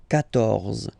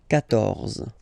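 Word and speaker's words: quatorze: Okay, so you will get the sound K here. K. 14. 14.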